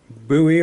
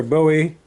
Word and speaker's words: Bowie: elkridge knife it was a buoy or bowie style once again depending on how you want to pronounce it and took it outside